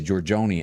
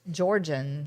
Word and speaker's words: Georgian: that georgia georgian okay i was trying to say georgioni and that's not right i think it's just georgian yeah georgian dollhouse but